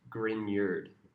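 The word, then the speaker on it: Grignard: These are called griyards spelled grape nard pronounced grineard.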